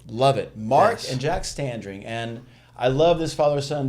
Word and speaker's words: Standring: duo, Mark and Jack Standring. I always want to say Stranding. You and everybody else. There's an extra R that we get it all the time. But you said it right.